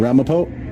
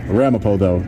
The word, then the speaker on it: Ramapo: Ramapo, that's a town. Yeah, Ramapo is how you say it.